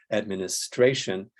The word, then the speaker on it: administration: on the first syllable Administration is stressed on the one two three four fourth syllable yeah uh dinosaur and